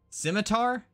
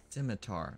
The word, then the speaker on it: scimitar: okay skar not a s i the the scimitar is how this is pronounced not the way that I said it right he inpreda asks his stream chat simitar not like I it's one of those words